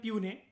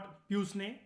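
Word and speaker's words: puisne: प्यूने जजेस का मतलब होता है, ठीक है, इसको प्रोनाउंस करते हैं प्यूने। ठीक है, लॉर्ड नॉट प्यूसने, ऐसा नहीं बोलते, प्यूने बोलते हैं।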